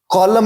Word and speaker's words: column: तो कॉलम में n silent है, क्लाइम में b साइलेंट है, अलाइन में g साइलेंट है.